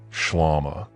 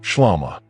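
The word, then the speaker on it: ܫܠܡܐ: You pronounce it shlama. That is the word, shlama.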